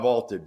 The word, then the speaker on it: VLTED: So go download the Vaulted app and give it a try for free. Vaulted is spelled VLTED, and it is the